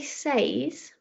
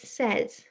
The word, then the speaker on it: says: And I can say says, but more commonly in a lot of places in the UK, I would say says. So you can hear that slight pronunciation change there. So I've got that eh sound instead of the full a sound.